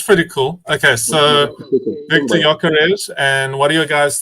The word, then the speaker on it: Gyökeres: Number 14, Victor Gyökeres.